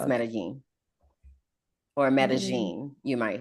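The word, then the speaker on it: Medellín: My, what I'll is spell it? it for you. I don't know. Medellin. Oh, Medellin. Uh-huh. IN. Uh-huh. It's the I with the Oh, accent over it. So it's pronounced okay. Medellin or Medellin.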